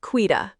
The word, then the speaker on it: Quita: And my name is pronounced quida.